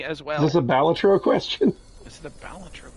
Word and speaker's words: Balatro: Is this a Balatro question? Is it a Balatro question? Kill you. Just like this Or one. is it a Balatro? Local Thumb corrected everybody, it's Balatro.